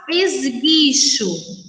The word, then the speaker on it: esguicho: Quando nós pronunciamos essas palavras, esguicho, sangue, guiar, nós não pronunciamos a vogal U, ok?